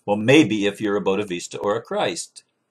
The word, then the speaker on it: Bodhisattva: A Bodhisattva. I'm sorry, I'm saying the word wrong. Bodhisattva. I knew it sounded wrong when I said it before. I thought, that doesn't sound right. Bodhisattva or a Christ.